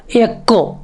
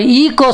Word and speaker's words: echo: பாருங்க, ECHO எக்கோ. அப்போ ஈகோ சொல்றது கிடையாது, எக்கோ.